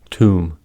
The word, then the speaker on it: tomb: First, B is not pronounced after M at the end of a word. These are examples: limb, plum, numb, crumb, dumb, comb, bomb, thumb, climb, tomb.